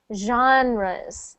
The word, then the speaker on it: genre: good next one genre that is pronounced genres even though it looks like e n because it's a French word so genres sounds like Jean res kind of sounds like johnr okay yes yes next